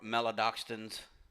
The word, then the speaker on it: maltodextrins: No added color, sugars, or maltodextrins, as Joshua don't like to say that word, but that's how it is pronounced.